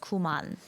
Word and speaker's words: qman: So in English you would say qman, but Yeah. in Korean it's pronounced kuman.